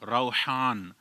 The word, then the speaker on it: Rohaan: लेकिन इसमें बाज औकात लोग रूहान पढ़ते हैं। रूहान आर ओ एच ए एन रूहान।